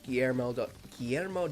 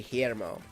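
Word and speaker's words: Guillermo: GMO Del Toro fan I can't say his name well because I can't roll my RS appropriately um I'm working on it uh Gano it's actually heo Del Toro if you pronounce it like actually correctly but I'm you know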